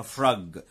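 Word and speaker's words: frog: وبولار بير الدب القطبي، وفراج فراج يعني مش فروج اسمها فراج يعني ضفدع.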